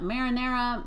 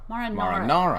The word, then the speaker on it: marinara: Now, some people pronounce that marinara, marinara. It's not correct. Marinara.